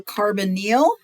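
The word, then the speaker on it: carbonyl: going to learn the carbonal and you can hear how I pronounce that carbonal group and the carboxy right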